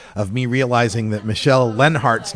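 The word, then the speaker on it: Leonhart: me realizing that Michelle lenhart's name is pronounced Lenhart it's Lenhart as if the O is silent like her opinion on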